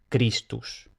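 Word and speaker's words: Christus: Luego tenemos la grafía ch que siempre se lee como k. Entonces tenemos cristus.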